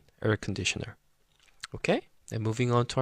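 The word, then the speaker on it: 에어컨: but in in the pronunciation uh in Korean pronunciation, so it's econer.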